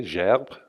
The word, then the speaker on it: gerbe: The French, anyone who speaks French can pronounce it the correct way, gerbe, right?